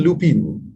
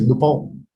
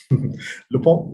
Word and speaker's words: Lupin: ratio before uh mr lupin actually it's not lupin no it's actually french the pronunciation is lupon lupone is five brother is